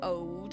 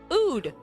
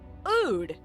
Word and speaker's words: oud: I guess we could do an ode. Is that what it's called? An ode. How do you pronounce that? O. Oud. Okay, now I know. Oud.